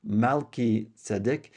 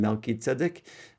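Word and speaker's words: Melchizedek: Now the name Melkit Sedic um or actually it's pronounced Malit Sedic means king of righteousness or my righteous king.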